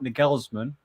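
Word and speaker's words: Nagelsmann: i'm gonna have to put nickels man top tress that's that's how you say it he's just the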